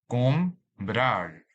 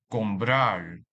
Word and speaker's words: comprar: This word has 2 syllables. Comprar. Comprar. And the stress is on the last syllable, since the vocabulary ends with a different consonants rather than N or S. So we highlight the A in the second syllable to mark the stress of this word.